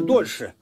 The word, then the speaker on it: дольше: Это дольше, дольше. Дольше, более, дольше. Неправильно ударение делаете. Дольше.